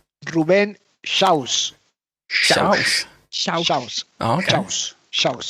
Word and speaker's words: Xaus: Pronunciation? Ruben Xaus.